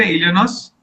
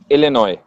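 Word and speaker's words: Illinois: इलनोस इलेनॉय इलनॉय S silent I सी आई C okay cool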